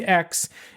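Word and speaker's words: Aix: what I'm talking about it's not a big X it's a iix but it's pronounced X as as that's as close as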